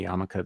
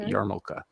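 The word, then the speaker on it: yarmulke: in this case uh when people say yamaka they drop the r it's yarn yarmoka and then usually the L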